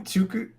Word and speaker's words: Tokoloshe: At least she's including the correct pronunciation. I mean, What is the correct one again? Tokoloshe.